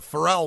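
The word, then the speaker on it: Pharrell: see here you also this song features frell Williams or is it farell I'll probably pronounce it right is it frell farell that's what he say all right so farell Williams on this track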